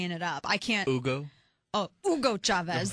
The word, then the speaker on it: Hugo: it up I can't Ugo oh Ugo Chavez they got to pronounce it the people in the news Ugo let's just you know let's straight up Ozark Hill Hugo shavis y'all quesadillas and